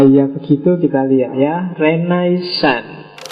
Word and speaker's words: Renaissance: Renaisan itu istilah dalam bahasa Perancis bacanya agak sengau belakang ya. Kalau orang Indonesia sih enggak suka istilah sengau. Itu biasanya renaisan yo renaisan. Kalau orang Prancis sendiri belakangnya mesti agak hilang renaisong.